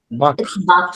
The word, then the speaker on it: Bach: तो ट बक फ्लावर इसे लोग बच फ्लावर भी कहते हैं और बाक फ्लावर भी रियल स्पेलिंग है बाक फ्लावर बी ए सी एच बाक फ्लावर इसे प्रोनंसिएशन इ बाक फ्लावर ये डॉक्टर एडवर्ड